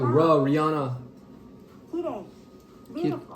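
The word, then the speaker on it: きれい: Kirei. Beautiful. Kirei. Kirei. Kirei. Beautiful. Kirei. Kirei. That word is Did you beautiful.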